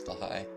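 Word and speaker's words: Blåhaj: And yes, that is how you pronounce Blaha.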